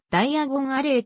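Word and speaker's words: Diagon Alley: する diagonal からで英語でダイアゴンアレイというとダイヤがなりーと同じ発音になり建物も斜め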